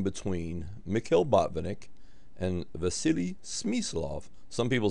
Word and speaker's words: Smyslov: to pronounce sm's name is actually vasili smof but again some Americans say smof so we know who we're talking about and uh Banick was